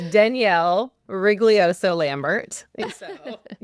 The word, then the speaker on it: Rigoglioso: Please say your full name so because I'm sure I butchered it. It's Danielle Wriglioso Lambert.